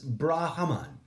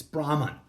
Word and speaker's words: Brahman: the indivisible homeo genius brahaman I mispronounced that it's Brahma there is no extra a brackets God comma infinity